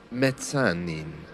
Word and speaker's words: mezzanine: Some British people do try to pronounce the Italian word correctly, which has a harder Z sound, mezzanine, for example. But most of us who don't speak Italian just refer to it as the mezzanine, and it's the mezzanine in American English.